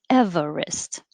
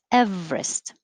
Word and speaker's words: Everest: you have two choices you can say everest with three or two everest i think two is more common so mount everest i